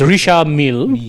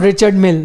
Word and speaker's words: Richard Mille: It's Richard Mille, if you pronounce it properly. Yeah. Okay, Not Richard Mille. No, it's not Richard Mille. Richard Mille. Mille. Adam Milne. No, it's Richard Mille. Like a penchant.